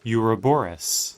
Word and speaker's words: Ouroboros: Well, actually, it's spelled... The noun version is O, but it's pronounced with a U. Interesting. So the O is silent.